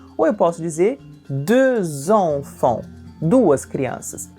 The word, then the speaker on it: deux: O som é totalmente diferente de qualquer som que a gente conheça na língua portuguesa. Prestem atenção. De. Como vocês podem observar, se escreve com X no final e esse X não é pronunciado.